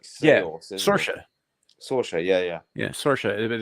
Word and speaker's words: Saoirse: There's like Saoirse. Saoirse. Yeah. Yeah, Saoirse. But it's spelled.